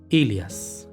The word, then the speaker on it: Aelias: Y bueno, lo interesante es que la primera letra es un monograma que se pronuncia algo como Ilias. Algo así debería poder pronunciarse.